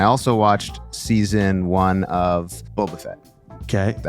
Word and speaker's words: Boba Fett: the Mandalorian I also watched season one of Boba Fett okay is that how you pronounce it yeah I don't know who that